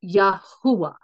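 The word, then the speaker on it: Yahweh: for the god of Israel whose name is pronounced yahwa okay so I had unpacked all this I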